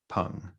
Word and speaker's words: Peng: but it's spelled like Pang, Peng. But I follow her on Twitter, and she was like, "My first name's actually pronounced Pung."